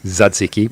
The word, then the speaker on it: tzatziki: So first of all, how do you actually properly pronounce tzatziki, which is how I say it? Tzatziki? Tzatziki. Yeah. Paul, make note. Kill the T.